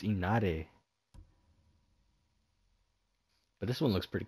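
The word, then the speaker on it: Inari: I've been pronouncing it wrong. I keep saying Inaru. But it's Inare.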